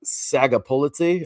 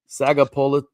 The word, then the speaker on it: Sagapolutele: California leads on balance and discipline, led by Jaden Sagapolite. I believe. How do you say his name, Darren? Sagapolutele. Sorry, bro. I feel bad for butchering your name, but great quarterback.